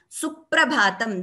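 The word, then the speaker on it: सुप्रभातम्: But while pronouncing, we pronounce it as Suprabhatam as opposed to Suprabhatam. So the second pronunciation is without Dvitvam. The first one is the right one, Suprabhatam. That stress which you get before the P, that is that double sound of P, that is called Dvitvam.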